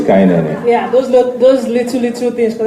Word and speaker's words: Kainene: Oh, some of the names, for instance, the way Tandy kept pronouncing Kainene, it's, instead of Kainene or Olanna. So I'm just curious, did they use, because I'm Igbo, so... Yeah, well, it is Kainene.